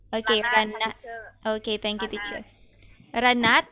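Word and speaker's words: ระนาด: Do you say Ranat or Ranad? How do you call this Thai xylophone? Ranad or Ranat? What is the correct pronunciation? Okay, Ranat.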